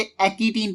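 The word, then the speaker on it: pachytene: और फर्स्ट, उसके बाद पैकिटीन का जिक्र करें, वैसे इसे एक्टीन पढ़ते हैं, पी साइलेंट है, या पैकिटीन जैसे भी है, मतलब स्पेलिंग याद रखिएगा।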